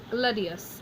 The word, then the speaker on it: gladius: This is three syllables, so we're going to start at the end. Going back one, is it long? It is not. Going back one more, and putting our accent here. So gladius and gladi.